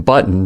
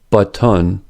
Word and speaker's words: button: In woman, there clearly is a schwa in front of n, but in button there is no schwa. Not button, but button.